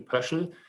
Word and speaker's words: Pöschl: a paper about Viktor Pöschl. I should probably pronounce this in a more Austrian way as Viktor Pöschl.